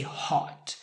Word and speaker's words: hot: You don't want to say hot, because this word means extremely warm. If you touch the fire, you don't say oh. No, it's more emphatic. You're gonna say ah. If you say hot, it's not believable because you're not emphasizing what the word actually says, which is also easier because you have the same vowel, ha, water, ha, water.